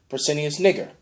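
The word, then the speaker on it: Pescennius Niger: he ended up killing Persinius Niger, because that's how it's actually pronounced, and got dominion over the Roman Empire, which is basically shortly after.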